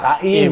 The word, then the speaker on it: Taim: di Jogja Oh taim gua dengarnya time tadi ta taim oh time bukan time ya bacanya taim gua kira dia orang